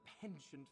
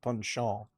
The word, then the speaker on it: penchant: It's passed around by a few adepts, like myself, with a penchant for the identification and illumination of ancient secrets. I believe it's pronounced punchant.